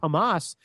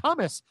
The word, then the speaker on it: Hamas: He repeatedly mispronounced the name of the extremist group Hamas, saying something that sounded more like hummus.